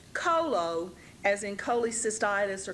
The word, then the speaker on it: colo: bile then we have a word part c l o which is also pronounced Colo so we have a